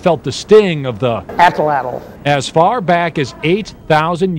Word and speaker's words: atlatl: It's pronounced Atlatl.